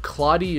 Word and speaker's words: Claude: Because the E is after the D, and that typically is pronounced, it's silent.